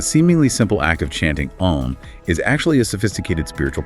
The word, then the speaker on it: Om: As you begin the sound, you start with the A sound, pronounced like Ah in father, originating deep from the navel region or abdomen. This A sound gradually transforms into the U sound, like oo in flute or U in put, as the vibration rises